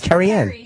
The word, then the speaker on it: Carrian: met it just now you said it wrong you said Carrie I said Carrie that's a name no it's not it's carrian she said Carrie when